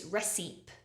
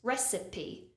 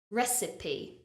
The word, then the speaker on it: recipe: spelling and think it's reip or recp but it needs three syllables recipe recipe congratulations if you made